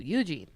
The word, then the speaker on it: Eugene: But you gotta put the emphasis on the U, Eugene. Oh, so there's a different emphasis on the... You put the emphasis on the wrong syllable. So where does the emphasis... I usually say Eugene. Oh. More emphasis on the gene.